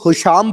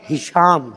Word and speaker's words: ہشام: امام کی بارگاہ میں آیا ہے۔ کچھ لوگ ہشام پڑھ رہے ہوتے ہیں، یہ غلط تلفظ ہے، اصل عربی کا لفظ ہشام ہے، ہے کے نیچے کسرہ۔ ہشام امام کی بارگاہ